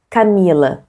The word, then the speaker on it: Camila: Le plus fort, c'est le mi, parce que c'est l'avant-dernière syllabe.